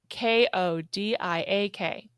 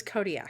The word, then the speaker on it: Kodiak: How do you say K O D I A K?